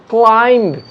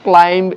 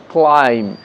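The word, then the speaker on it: climb: ঠিক সেরকম ক্লাইম্ব, নট ক্লাইম্ব, এটা ভুল উচ্চারণ, বি সাইলেন্ট আছে, আমরা বলবো ক্লাইম্ব।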